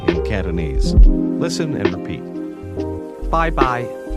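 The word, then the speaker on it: 拜拜: Bye-bye. Bye. Bye. Bye-bye. Bye-bye. That's pronounced with high and mid-level tones.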